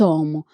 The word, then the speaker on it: homme: H is silent in French.